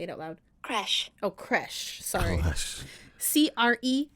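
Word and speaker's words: crèche: How do you pronounce it? Hold on. Let me see if it'll say it out loud. Creche.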